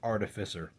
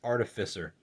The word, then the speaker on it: Artificer: I just want to clarify that this word is pronounced Artificer. Because you don't say, instead of Artificer, which I hear a lot of people say, you don't say artificial, you say artificial. So it's Artificer.